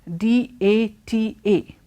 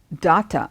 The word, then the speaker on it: data: And then the word D-A-T-A. That word is not data, it is data.